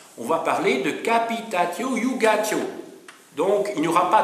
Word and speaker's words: iugatio: C'est la iugatio, J-U-G-A-T-I-O, iugatio, ou jugatio, si vous voulez, hein, si c'est mal prononcé, la iugatio.